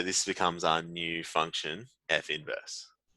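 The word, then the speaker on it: f⁻¹: in its own right so it's gonna be f inverse is how we pronounce this F inverse I'm not gonna worry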